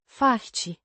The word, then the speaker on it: faci: Pronounced. Faci. With a clear A. and E. sound.